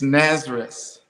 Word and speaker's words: Nasrus: Was is it Narcissus, or how do you pronounce the name of your group? It's Nazareth.